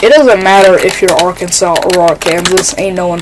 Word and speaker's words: Arkansas: pretty close you know why isn't Arkansas just pronounced Aransas like I feel like we should just retire the French pronunciation for that like no I don't